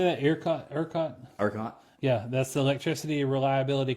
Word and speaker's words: ERCOT: ERCOT?